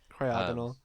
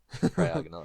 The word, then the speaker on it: Cryogonal: Am I pronouncing is the emphasis in the correct place now? That's what I would say. You need to know these things now. Cryogonal. Cryogonal.